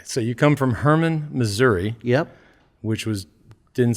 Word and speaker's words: Missouri: to the small town do you pronounce it missouri or missouri i say missouri okay because it's you're more on the western side right yep and so further east and south they call it missouri yep okay so you